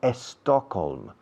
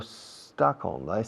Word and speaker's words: Stockholm: No digo Stockholm, digo Stockholm. Empieza por ese.